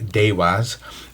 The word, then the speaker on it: deva: the devas comes from a sanskrit world word uh pronounced dewaz um and scilla describes